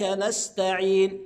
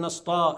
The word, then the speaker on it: نستعين: نعبد اياك نعبد واياك نستعين شايفين حضراتكم السين والتاء كلها حروف مرققه فاقول نستعين نستا يبقى ماينفعش اقول نسطا لا ما ينفعش نستعين بعد